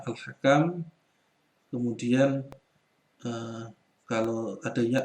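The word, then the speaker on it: الحكم: Kemudian berikutnya al-hakam. Nah, ini bukan al-hakim ya. Al-hakim nanti di sini ada ya-nya. Kalau tanpa ya bacanya al-hakam.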